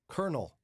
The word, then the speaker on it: colonel: And then you have North Carolina and Arizona struggle to spell the word colonel.